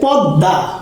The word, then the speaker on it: পদ্মা: সেভাবে পদ্মা, পদ্মা এটা পদ মোড়া দ হলো কেন, কারণ যদি শব্দের মাঝে অথবা শেষে যদি মফলা বফলা থাকে তাইলে ওই যে বর্ণের সাথে যুক্ত হয় সেই বর্ণটা দ্বিত্ব উচ্চারিত হয়।